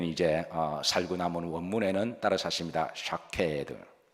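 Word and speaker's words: שקד: 샤케드. 이렇게 발음을 끝까지 하셔야 돼요. 사케까지 하시면 일본 술이 됩니다. 그래, 샤케드입니다. 발음상 샤를 강조하기도 하는데요.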